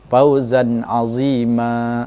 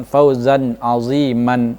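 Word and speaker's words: فوزا عظيما: Fauzan azima, bukan fauzan aziman, itu salah.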